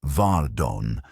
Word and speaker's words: Varden: of Miss Iris Varden, pronounced with terrible appropriateness as Vardon, laid out as neatly